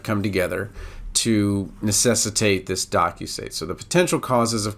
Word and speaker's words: docusate: you would want to think of docusate rhyming with penetrate because what it really